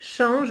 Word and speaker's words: change: dire comme a changé, change ou changera. OK. D'accord? Donc, OK. l'intelligence artificielle change, et là, je ne prononce pas le E, d'accord?